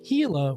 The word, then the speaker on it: Gila: Don't pronounce the G. It's Gila with an H.